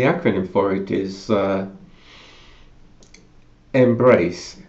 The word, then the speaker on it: MBRACE: it is uh Embrace that's like Embrace but with without an e and with two RS as in you know on the it well I'm I'll spell it out MB r a c e anyway I I I'll